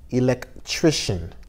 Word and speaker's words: electrician: athlete athlete electrician electrician c i a n is pronounced shun electrician electrician artist plumber plumber